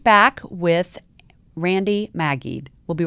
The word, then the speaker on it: Maggid: I didn't want to say your name again because I want to make sure I don't mispronounce it. Randi Maggid. Maggid.